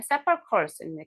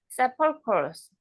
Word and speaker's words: sepulchres: 세펄초스. K 발음이네. sepulchres, K 발음이에요. K 발음. sepulchres.